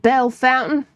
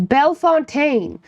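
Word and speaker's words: Bellefontaine: called Bell Fontaine. Yeah. Everybody local pronounced Bell Fountain. Bale Fountain. It was Bell Fontaine.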